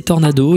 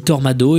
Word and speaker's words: tornado: blague c'est une blague il arrive pas à prononcer Tornado il dit tormado et il fait une